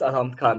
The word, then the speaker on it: Alhamd Khan: I am your host, and today we are joined by Alhamd Khan. Did I pronounce it right? Yes, Alhamd Khan.